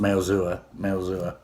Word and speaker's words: Maozua: It's kind of hard to pronounce, but that's how it's pronounced, Maozua.